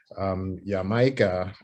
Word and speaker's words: Jamaica: mispronounced by the british yamaka is closer to the original pronunciation of the island of jamaica so if that's not